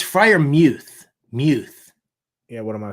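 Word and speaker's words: Freiermuth: Uh it's it's Frier Muth.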